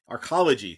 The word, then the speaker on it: arcology: And you know also that there was an AR I can't pronounce anything today. Arch the archology.